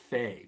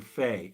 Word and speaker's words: Fahy: is Easy Warren, but I think his last name is Fay, but it's spelled Fahy. So James Valiant, Valiant, and Warren Fay, Fahy, wrote a book called Creating Christ.